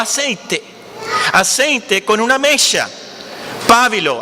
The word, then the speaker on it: pábilo: Pábilo, así se pronuncia.